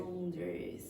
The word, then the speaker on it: boundaries: Yeah, and don't pronounce that A, just eliminate it. So you get Boundaries.